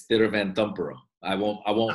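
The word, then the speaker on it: Thiruvananthapuram: if you want to real get ethnic it's theater van dumper oh i won't i won't hold you to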